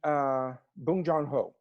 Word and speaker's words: Bong Joon-ho: Yes, Parasite, and Bong Joon-ho.